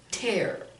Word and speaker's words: tear: a verb it's pronounced tear tear it rhymes with air when you think about